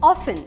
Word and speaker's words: often: The word often, we know the spelling so right. We have learned the spelling so right that when we pronounce it, we remember to pronounce the T. However, you've got to ignore the T to pronounce the word right. Hence, the word remains often and not often.